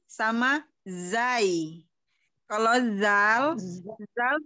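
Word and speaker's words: ز: Kalau zai, zai itu dia pengucapannya biasa seperti kalau ada kalau suara nyamuk z gitu.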